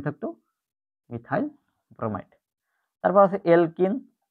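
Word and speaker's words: alkene: এলকিনের উচ্চারণটা হয় ইনের মতো, ইনের মতো। অ্যালকাইনের উচ্চারণ হয় আইনের মতো, YN, আইনের মতো।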